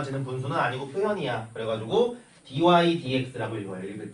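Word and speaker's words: dy/dx: 그래가지고 읽을 땐 dy dx라고 이렇게 위에부터 읽어줘. 근데 dx분의 dy라고 읽는다고 누구도 너네를 때리지 않으니까 편한 대로 하시고요.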